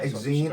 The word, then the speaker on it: Exene: Yeah, Exene. I can never pronounce her name.